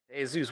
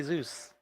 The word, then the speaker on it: Zeus: you know, Hey Zeus, why are you calling me Hey Zeus? My name is Zeus, like God of fucking lightning thunder.